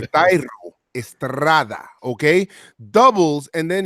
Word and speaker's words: Thairo: You got to roll your R's now for Thairo. Twice for Thairo.